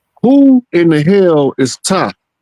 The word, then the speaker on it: Ptah: Now, who in the hell is Ta? The P is silent, by the way.